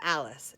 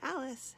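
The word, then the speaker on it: Allis: And then this, I would call this an Alice. And Alice is spelled A-L-I-S. But I think of Alice as like Alice and Kelly are all friends. So Alice has little hands, like holding hands.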